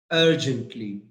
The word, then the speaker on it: urgently: word the word is urgently urgently please see me urgently yes the stress is on you are that's right you are